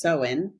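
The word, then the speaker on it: Samhain: called SE definitely spelled soman but it is pronounced seen and um and it marked the end of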